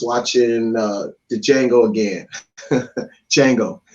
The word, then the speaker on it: Django: uh the django again django the d is silent no um so as